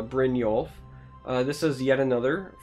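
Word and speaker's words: Brynjolf: I assume is uh brinol uh I'm pretty horrible with like the Nordic pronunciation but I feel like it's uh Brin yolf uh this is yet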